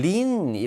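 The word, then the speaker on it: lean: 어게인스트 란 편이거든요 여러분 린이 라는 동사는 요 어여 여러분이 꼭 이해를 하고 계셔야 되는 중요한 동사입니다 발음 조심 하세요 예 aan 애니 아니라 린 입니다 1 리는 기대다 혹은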